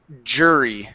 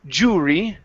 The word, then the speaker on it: jury: first up jury so instead of saying Jew jurry okay the you are typically not all the time okay but typically whenever you see that it's just going to be an ER sound like her so this is jur jury jury good so uh to